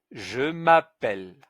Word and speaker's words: je m'appelle: l'a déjà vu, que un e suivi de deux consonne, le e devient. Donc c'est je m' pe elle. Je m'appelle Je m'appelle Je m'appelle Voilà.